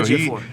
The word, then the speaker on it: Ejiofor: Ejiofor. Okay, so Ejiofor.